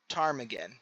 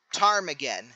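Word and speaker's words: ptarmigan: Again, I'm assuming the P is silent. Lizard. Frog. Rodent bird tarmaggan tarmaggan. That's not what I put down. Tarmagan.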